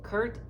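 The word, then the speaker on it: Kuhrt: Kurt is spelled K-U-H-R-T, in case you guys want to do your own research on this sergeant.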